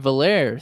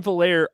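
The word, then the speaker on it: Veilleux: He will not be a good quarterback until he pronounces his name the way that it should be pronounced. How about that? Like I don't know how you get ER out of IEUX.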